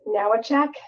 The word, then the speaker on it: Nawojczyk: First of all, my last name is pronounced Nawojczyk, so it's not as bad as it looks.